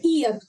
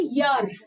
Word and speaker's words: year: ईयर, आप गलत बोलते हो। इसके प्रोनाउंसिएशन इंग्लिश में होते हैं यर, यर, य।